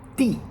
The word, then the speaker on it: 地: We've made it to the fourth tone, D.